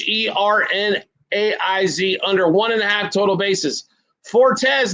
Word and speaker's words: Hernaiz: Hernandez, I can't pronounce it. It's Hernaiz, under 1.5 total bases.